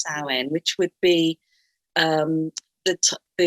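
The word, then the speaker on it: Samhain: passed Salin or some people might call it Sam Hayne but it's pronounced saline which would be um the Celtic end of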